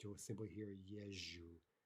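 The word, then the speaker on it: езжу: Often you won't even hear the ze pronounced. You'll simply hear yeju, yeju, right?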